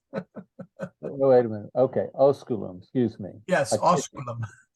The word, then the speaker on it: osculum: Where it says Julius Aemiliae Oculum dot. So is Aemiliae in the dative there? The last sentence. Oh, would you care to repronounce that fourth word? Osculum?